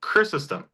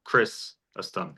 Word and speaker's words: Chrysostom: So I said Chrysostom, and the stressor's on the first syllable, Chrysostom. You said Chrysostom, and that's fine. And that puts the stressor on the second syllable, Chrysostom.